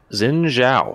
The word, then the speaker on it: Xin Zhao: Xin Zhao.